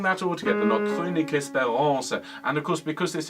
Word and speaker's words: espérance: And of course, because this is French, on those strong syllables lean in, and then on the syllables towards the ends of the words, for example, espérance, make sure the last syllable is considerably lighter.